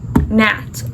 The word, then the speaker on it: gnats: What I didn't know is the indoor plants attract gnats. Also, um I don't know if I'm just stupid or something, but I found out that gnats are spelled with a G.